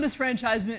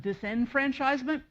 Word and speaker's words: disfranchisement: at the outset um you might think that I'm saying it wrong um many people today say felon disenfranchisement um you can say either one neither wrong historians people in the past said disfranchisement and since historians deal